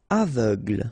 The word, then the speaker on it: aveugle: Aveugle, same thing, final E, not really present.